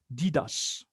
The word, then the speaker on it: Deides: It's spelled, it's pronounced Didas.